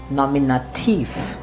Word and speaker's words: Nominativ: one of them is nominative remember you have to pronounce it as thief and not tu or tu it's not nominate you no it's nominativ similarly this one is